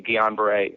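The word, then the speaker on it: Guillain-Barré: the um yeah getting geometry and you did pronounce it correctly Guillain-Barre um was was crazy and I was completely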